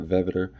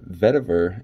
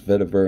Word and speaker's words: vetiver: so first of all or vetiver rather not vetera but uh vetiver and oak i think that's how to pronounce it i'm not even actually